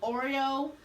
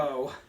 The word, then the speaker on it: Oro: I'm trying to figure out when Oreo decided to become, is that his name? Did I pronounce it correct? Oro.